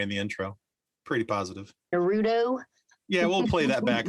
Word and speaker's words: Naruto: Like it's Naruto, but lots of people say Naruto. It's not Naruto, it's Naruto, because this emphasis is on the first syllable instead of the middle one, which is what we're used to.